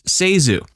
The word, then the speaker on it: ZaSu: In her 1963 book, Candy Hits, published the year she died, Zasu gave the correct pronunciation as Zasu.